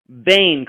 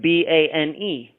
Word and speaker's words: Boehm: Of course, little Joe's last name is Boehm, but it is pronounced Bane, correct? Like Bane.